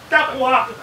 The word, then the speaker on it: taqwa: So the waw is replaced with ta. So it is taqwa.